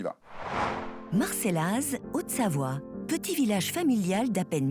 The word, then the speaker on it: Marcellaz: amener d'une part à Marcella si je le prononce bien il y a un Z à la fin mais bon voilà et Neuilly-Plaisance deux exclusivités de Sébastien deux experts on y va Marcellaz Haute-Savoie petit village familial